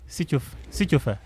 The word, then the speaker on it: Sitsofe: Pronounce that name again. Sitsofe.